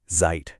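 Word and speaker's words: seid: उसके लिए इस्तेमाल होगा इयर जाइट इयर का मतलब है तुम सब इनफॉर्मल जब दोस्तों के ग्रुप से बात कर रहे हो और वर्ब है जाइट इसकी प्रोनाउंसिएशन पर ध्यान दें जाइट जाइट और अब हमारे आखिरी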